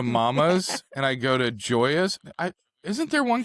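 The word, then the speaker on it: Gioia's: I go to uh I'm I'm going to mispronounce it. Giadelas uh the delicatessan up there. Joy. Joy. Joyazelli. Yeah. Let's fix that. I go to Mama's and I go to Joya's.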